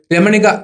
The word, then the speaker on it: രമണിക: ഒരു online platform ആണ് ഇതിന്റെ പേരിന്റെ ഉച്ചാരണം രാമണിക എന്നാണ് രമണിക എന്നല്ല രമണിക സിൽക്സിന്റെ കഥ വിശകലനം